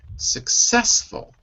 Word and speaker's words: successful: way repeat after me successful successful good not successful the stress is on the success second syllable successful good Giancarlo take